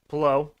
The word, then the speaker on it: Palou: Alex Palou, however Miles said it, he said it right. Palou. They both agree with Miles. What do I say about pronunciations, bro?